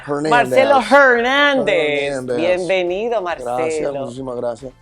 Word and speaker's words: Hernández: Estados Unidos Marcelo Hernández Marcelo hernáez Eme no se le puede decir a los americanos que la H muda están acostumbrado ya hernáez Marcelo Hernández bienvenido Marcelo Gracias Muchísimas